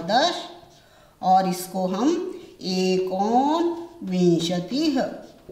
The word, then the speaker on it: विंशति: Mostly बच्चे विशंति बोलते हैं, विशंति नहीं बोलना, वी के ऊपर अनुस्वार लगेगा, श खाली है, विंशति, विंशति, ध्यान रखना है इन चीजों का।